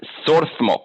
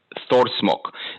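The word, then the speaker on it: Þórsmörk: they're funny this is sorsmok you see that little letter over here like a p it's actually pronounced like th thor smoke this is the valley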